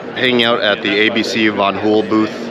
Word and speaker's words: Van Hool: out at the Abc Von hul booth I learned how to properly pronounce banul